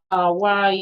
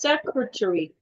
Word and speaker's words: secretary: And the next word, secretary, is pronounced secretary. Secretary. Secretary. Not secretary. Secretary.